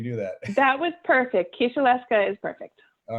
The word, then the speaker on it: Kisielewska: Kisielewska is perfect.